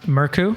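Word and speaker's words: Mørkøv: His name's pronounced Murku.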